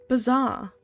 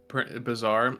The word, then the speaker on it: bizarre: all excuse me mate it's not bizarre it's pronounced bizar oh I'm going to call you bad words it's French B oh that was a